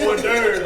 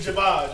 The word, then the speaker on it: hors d'oeuvre: It's hors d'oeuvre, baby. It ain't Jabaj, okay?